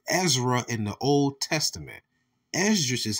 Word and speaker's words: Esdras: Esdras is how you will pronounce his name in the Greek.